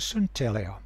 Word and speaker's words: synteleia: But the lower one, Synteleia, some people pronounce it Synteleia, that one speaks of